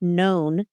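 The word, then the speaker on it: Noone: So the plot centers on pickpocket turned porter Eric Known. His name is spelled N-O-O. It's spelled N-O-O-N-E, as in like no one.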